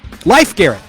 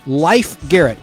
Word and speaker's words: Leif Garrett: leaf Garrett Leif Garrett life Garrett I'm sorry I've always been the fans get pissed at me life Garrett l-e-i-f is how it looks on paper but it's life pronounced life Garrett she's life Garrett's sister